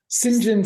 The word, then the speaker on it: St John: appropriating an Indian name I didn't realize it was just how they were going to pronounce Saint John yeah I've never heard